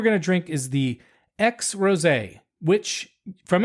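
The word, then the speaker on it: Aix: what I'm talking about it's not a big X it's a iix but it's pronounced X as as that's as close as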